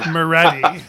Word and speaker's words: Maready: it's like it's like spaghetti right it's Murray right but you're not supposed to sing very good yeah well no but that's how people know yeah Moretti and he's the author of uh of more